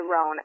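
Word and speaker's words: Rouen: a duck is it it's called a ran oh it's spelled r o u n but it's a ran and it basically looks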